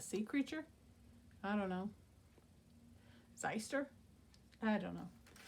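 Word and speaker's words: xyster: it it was a zeister x y s t e r zeister I guess it's the proper pronunciation and I'm not fibbing to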